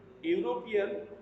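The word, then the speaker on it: European: দেখো এখানে দেখানো হয়েছে ইউরোপিয়ান, এই যে শব্দটি স্পেলিং এর প্রথমে ই রয়েছে এবং পরবর্তীতে ইউ রয়েছে, কিন্তু এর উচ্চারণটা আসছে কিভাবে? ইউ ইউ এর মতো করে এটা উচ্চারণ হচ্ছে।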